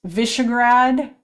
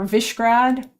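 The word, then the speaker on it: Višegrad: The S is pronounced like sh. Okay. Um Oh, so it's Vishagrad or Vishrad.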